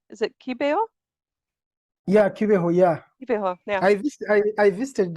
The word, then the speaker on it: Kibeho: Yeah, Kibeho, yeah.